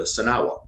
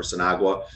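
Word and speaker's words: Sinagua: called the people there the sanawa or sanagua tomato tomato people pronounce it different different ways but so they he's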